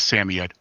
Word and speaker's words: Samoyed: name was oh actually proper pronunciation is samoyed hardly anybody calls them that most people call me either uh samoyed sammy or